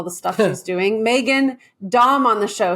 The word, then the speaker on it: Daum: Dom on the show so there was a controversy about her name pronunciation I like Dom and she's been very kind of uh do as you wish with it so I'm G to say Dom but you're G to